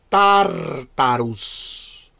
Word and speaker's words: Tartarus: Segundo, tienes el Tartarus, así se pronuncia, se escribe Tartarus, el Tartarus.